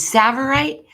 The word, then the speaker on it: Tsavorite: There's Tsavorite, which is like a lime green neon. It's incredible. And it's spelled TSA, Tsavorite.